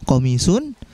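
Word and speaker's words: قَمِيصٌ: Betul ya coming soon minimnya dipanjangkan qomisun bukan nanti qomisun atau qomisun bukan ya tetapi dipanjangkan diminumnya qomisun yang insya Allah nanti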